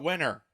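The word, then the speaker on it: Wenner: so his name is Jan weiner uh winner I think that's how you pronounce it Jan winner um is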